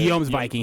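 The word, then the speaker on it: Jomsvikings: No, so the way that the way that's pronounced is Yor. Oh, Yor? Yeah, or Yom. Excuse me, Yom. You're talking about the Yom's Viking.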